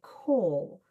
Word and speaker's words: caul: that is used, or with a call, which is the actual term. The call is spelled C A U L.